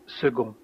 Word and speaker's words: second: And here, second, the C is like a G, second.